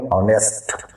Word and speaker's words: honest: इसी तरह हम पढ़ेंगे ऑनेस्ट, HONEST, ऑनेस्ट, यहाँ पर एस साइलेंट, ऑनेस्ट, तो पढ़ते दी ऑनेस्ट, ठीक है।